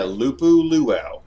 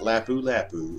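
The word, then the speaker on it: Lupu-Luau: you pronouncing that right yeah loop ooh luau not lapu-lapu it's loop ooh ooh ow no pineapples just like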